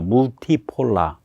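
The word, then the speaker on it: multipolar: 있는 다급 체제를 선호한다 영어로 멀티폴라 그걸 똑같이 씁니다 독일도 근데 발음만 독일식으로 바꿔서 하죠 물티폴라 멀티폴라가 아니라 몽키 체제를 선호한다 그런 말을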